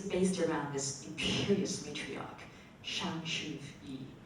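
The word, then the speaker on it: Shang Su Yi: And and the story is based around this imperious matriarch, Shang Shu-yi, right? Good pronunciation.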